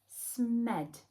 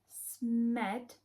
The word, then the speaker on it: Smed: why is he called smed what does smed rhyme with did you guess it right he's red smed for red so Smo must be